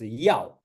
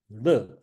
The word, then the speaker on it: 乐: Also, you read as yao, that means, desire. I enjoy, I want to this one. So, 一者三乐, I have to pronounce it as 乐, happiness, not 要 or desire or I want.